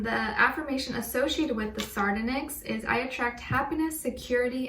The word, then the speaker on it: sardonyx: And as your crystal of the week, you guys got, how do you say this, sardonyx? You guys got the sardonyx, S-A-R-D-O-N-Y-X, sardonyx, I think that's how you say it.